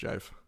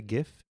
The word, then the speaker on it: GIF: I actually watched a whole video about how it should be pronounced, and it should be pronounced jive. Okay, people say gif, and this is the first time I've heard jife.